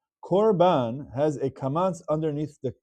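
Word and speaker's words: קרבן: There's a word called korban. Korban has a kamatz underneath the kuf. It's not pronounced karban, it's korban.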